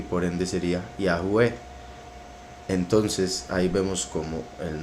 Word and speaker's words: Yahweh: como con el acento, y por ende sería Yahweh. Entonces ahí vemos como el nombre se pronunciaría simplemente por las letras que lo conforman,